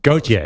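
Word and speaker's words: Gotye: How do you pronounce it? Gautier.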